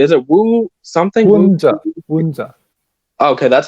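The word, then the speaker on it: Woon Tze: Wunza.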